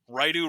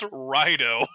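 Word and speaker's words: Raidou: Every podcast I listen to, Raidu remastered. Oh, did you hear this new Atlas game, Raidu? I'm going crazy here, but I'm like, Spencer, this is a PlayStation 2 RPG that released in 2006. Nobody remembers this game, let alone how to pronounce Raido.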